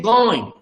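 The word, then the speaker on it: गोंय: What is called Goa in English? In Konkani we say going.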